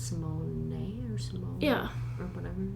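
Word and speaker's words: Raven-Symoné: Raven Simone is not Simone. It's Simone or Simone. Yeah. Or whatever. Like you pronounce the E at the end because it's French or.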